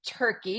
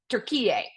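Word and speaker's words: Türkiye: capid doia and um a lot of folks say turkey but they are going back to um how it should be pronounced and that is tur PA so we're going to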